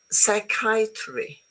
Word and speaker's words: psychiatry: There are some words in English which are written with a CH, but they are pronounced K, as in chemist, as in choir, psychiatry, ache, stomach, chaos, chasm.